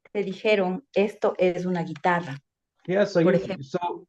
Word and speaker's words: guitarra: dijeron, esto es una guitarra. Yeah, so Por you ejemplo. so you say, oh, how do you say guitarro? Guitarro? Is that how you say it in Spanish? Guitarra.